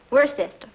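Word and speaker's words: Worcester: Freddy calls it something else too doc but it's spelled w r c s t e r where sister oh yes I see yes Lord wer mhm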